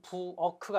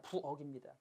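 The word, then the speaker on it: 부엌: 키읔 받침이 같지만 실제 발음은 부어크가 아니라 그냥 부억입니다.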